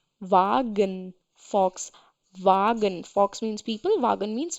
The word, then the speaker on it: Volkswagen: brand and in India people call it as Volkswagen but because it's a German car brand so the pronunciation is different difference we the pronunciation is